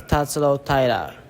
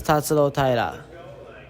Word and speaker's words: Tatsuro Taira: I brought this file to the masses because I think I've been mispronouncing his name his whole UFC career. So let's hear the file, Cody, if we could. My name is Tatsuro Taira. My name is Tatsuro Taira.